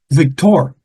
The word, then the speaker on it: Victor: Victor Asian speaking people they're gonna say Victor because the accent is always on the last syllable okay so M it's